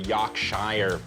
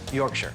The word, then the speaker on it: Yorkshire: of Cumbria beef with the Yaak shire pudding you say you're shy do it a lot Yorkshire yeah yup yeah Yorkshire how do you say